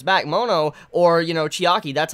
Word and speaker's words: Chiaki: couple of episodes back mono or you know Chiaki that's how you pronounce her name this is the younger sister